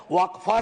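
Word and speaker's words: वक़्फ़: और अलग अलग लोग इसका प्रोनाउंसिएशन अलग करते हैं, कोई वक्फ बोलता है, कोई वकफ बोलता है।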